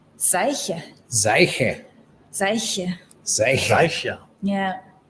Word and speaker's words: Seiche: So is, how do you pronounce the last name? Seiche. Seiche.